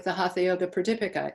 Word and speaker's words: Pradipika: How do you pronounce it? Pradipika. Pradipika.